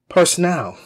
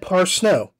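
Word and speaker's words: Parsneau: is proper and correct i mispronounced andrea parsno's name i said personnel personnel and it is said par snow you can see the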